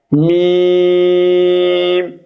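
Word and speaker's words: ميم: উপরের দাঁতের মাড়ির সঙ্গে লাগিয়ে উচ্চারিত হয় লাম মিম মিম বর্ণটি একদমই স্বাভাবিক।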